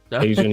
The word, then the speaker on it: Tajan: Tajan, that's how you pronounce her name, Tajan L.